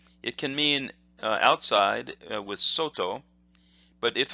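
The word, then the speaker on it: 外: It can mean outside with soto, but if it's pronounced as gai, it could mean foreign, like gaijin, which is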